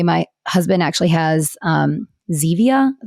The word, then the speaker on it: Zevia: husband actually has um zevia that's how you say it like the stevia soda because he's tried to